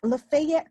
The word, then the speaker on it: Lafayette: In Lafayette County, is how they say it in Mississippi.